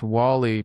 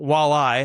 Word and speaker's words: WALi: It's not walleye. I've gotten that one before.